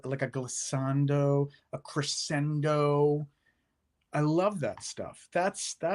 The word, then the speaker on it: crescendo: What you just said now, the crescendo, or depending, in Italian it's crescendo, but you can say crescendo.